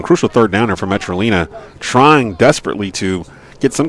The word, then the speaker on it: Metrolina: pronouncing their name wrong it's metrolina like carolina oh metro i did